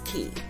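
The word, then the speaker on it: caye: so is Amber gree key they're all pronounced key no matter how they're spelled and a key is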